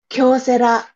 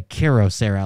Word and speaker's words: Kyocera: to found those but I always say KIRO Sarah like KYR instead of k-y-o uh but I just